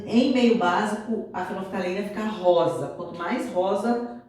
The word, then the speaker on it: fenolftaleína: Às vezes vocês podem ter uma certa dificuldade para pronunciar essa palavra, mas é fenolftaleína.